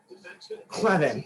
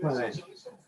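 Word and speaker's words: Kleven: Clevin, that's how you say it. Clevin.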